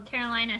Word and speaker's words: Carolina: a big 6.8 well carolina says that her name is pronounced carolina as in the state north carolina so good job coach brandt